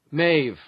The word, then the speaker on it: Maeve: let's see if either of you are correct Maeve it's from an old Irish name Maeve the